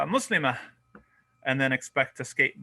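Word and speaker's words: مسلمة: If we stop at a ta marbuta, we have to pronounce it as a ha. So this is what's going on. We say muslima. That's just, we're saying muslimatun, but we're not pronouncing the ending.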